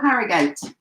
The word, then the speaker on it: Harrogate: Hello, Harrogate.